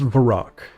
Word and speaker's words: Varrock: It's pronounced Varrock.